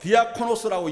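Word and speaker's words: διάκονος: 이때 일꾼이란 단어는 헬라어로 디아코노스라고 읽습니다.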